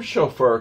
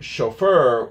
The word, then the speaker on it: chauffeur: The term chauffeur comes directly from French. That's why we pronounce it in French way. It derives from the verb chauffeur, without the U, meaning to heat. The term chauffeur was created to turn the term into a noun.